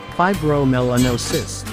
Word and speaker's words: fibromelanosis: Pronounced as fibromelanosis, this condition is what gives Ayam Cemani chickens their enchanting all-black appearance.